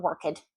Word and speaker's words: worked: So you want to make sure you don't pronounce that ed, not unless the word ends in a T or a D.